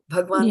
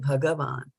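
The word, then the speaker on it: भगवान्: line is not there Sanskrit is different than Hindi we do say in Hindi right but in Sanskrit bhagavan then you pronounce each of the syllables you know completely okay but I'll try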